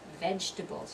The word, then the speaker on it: vegetables: vegetables not vegetables injectables it sounds very strange if you say vegetables its vegetables you're going to drop that second syllable vegetables and then when